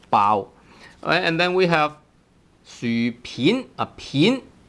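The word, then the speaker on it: 薯片: And then we have 薯片. A 片 has actually two pronunciations, right? 片 tone 2 here, but then normally the word is called 片 tone 3.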